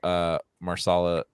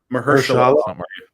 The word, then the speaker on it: Mahershala: The second season dropped off quite a bit, and I think a lot of that has to do with Mahershala Ali. How do you say that? Mahershala.